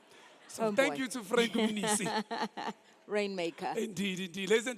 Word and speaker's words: Mnisi: He says, no, it's just like Umnisi. Okay. So thank you to Frank Munisi.